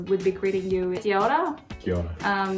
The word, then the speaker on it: Kia ora: Kia Ora.